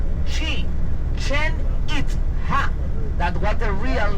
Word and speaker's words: Chichen Itza: And the name is not even Chichanita. Any Mayan territory have the original name because when the Spaniers came here, they changed most of the names because the pronunciation they easier. Okay. The real name of Chicha was she chen it.